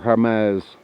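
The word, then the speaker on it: Jemez: over 10,000 feet that's the gym as mountains basically or harm eyes if you want to pronounce it properly which is part of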